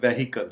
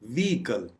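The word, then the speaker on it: vehicle: है शुमाली northern northern व्हीकल व्हीकल इसको आम तौर पर प्रोनाउंस किया जाता है व्हीकल जिसका मतलब है गाड़ी लेकिन इसकी करेक्ट प्रोनंसिएशन है व्हीकल वकल वकल यानी एच पे आपने बिल्कुल एमफसिस नहीं देना यानी जोर नहीं देना और बड़े आराम से इसको प्रोनाउंस करना है वकल वीडियो वीडियो आमतौर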